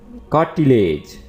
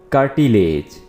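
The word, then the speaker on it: cartilage: drum कान का पर्दा कार्टिलेज कार्टिलेज इसको आप कर्टी नहीं पढ़ेंगे कर्टी नहीं पढ़ना है आर को आपने थोड़ा सा टच करना है और पढ़ेंगे आप कार्टिलेज कार्टिलेज कुरकुरी हड्डी या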